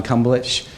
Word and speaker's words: Kumbelich: John Kumbelich, that's the third way you've heard it pronounced. That's the correct way.